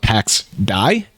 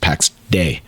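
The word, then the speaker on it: Pax Dei: Last week we talked a lot about PAX DAI. It's been corrected to me by multiple people and multiple sources. It's actually pronounced PAX Day. Which, hey, dumbass, yeah. It's day, not die.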